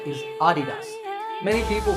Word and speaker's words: adidas: of its founder's name adi dasa a german businessman so the correct pronunciation is with the stress on the first syllable ah adidas number eight